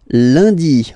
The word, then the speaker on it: lundi: And in France, the week starts with lundi, Monday. Lundi, lundi. Okay, remember, UN is pronounced like un.